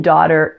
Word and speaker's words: daughter: me know the comments now the teen daughter is a flap T since it occurs between vowel sounds so the T sounds like an English D so if we take the first part da and we add that flap T we get Dodd Dodd see my video on